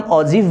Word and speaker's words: ogive: अब इसके बाद आपका एक लास्ट टॉपिक बच जाता है ऑगिव, ठीक है, जिसे हम ऑजिव भी प्रोनाउंस करते हैं, वो क्यूमुलेटिव फ्रीक्वेंसी कर्व है, और उसको हम फटाफट से देखते हैं।